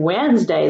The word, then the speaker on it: Wednesday: know we say well why is there a letter D in Wednesday that makes no sense because we don't even pronounce the D but it's because Wednesday